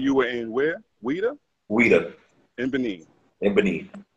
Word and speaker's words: Ouidah: you were in where weda WEA in Ben in Ben not pronounced Judah not pronounced Judah nobody pronounce it Judah